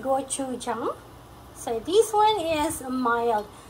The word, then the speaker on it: gochujang: container so I remember okay so it is pronounced gochujang so this one is mild but I find